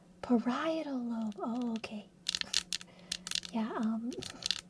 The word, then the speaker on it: parietal: I I remember that cuz I I didn't know how to pronounce that one. Parietal lobe.